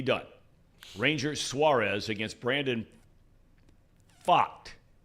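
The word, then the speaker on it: Pfaadt: Rangers Suarez against Brandon F it's a tricky name to pronounce because it's spelled PFA a DT bot first pitch 407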